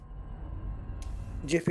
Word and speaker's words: GIF: I know it it's it's a g I know that but so is so is giraffe and gems and Gillette and stuff uh but